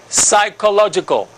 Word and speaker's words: psychological: sound, technical, and here psychological. Look at the spelling of psychological, psychological, okay? PSYCH, that's the funny beginning, all right?